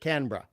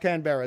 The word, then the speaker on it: Canberra: I've been to Canberra we just pronounce it Canberra Canada no no no not Canberra that's just that oh it's like it's like nails on a chalkboard to Aussie ears my apologies that's just